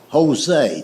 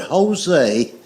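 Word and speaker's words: José: It's like the word Jose. The word Jose is J O S E, but it's pronounced with a H.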